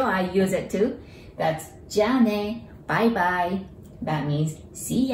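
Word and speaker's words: じゃあね: and family, that is jane, the one that you just heard. Jane, the ja sounds like the jar, right? Container jar.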